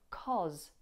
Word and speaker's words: cause: Did you hear the difference between how I pronounce cause when it's on its own as opposed to when it's in the word because? Cause, because, cause, because. In because, it's short, ah. But in cause, we have this long, or.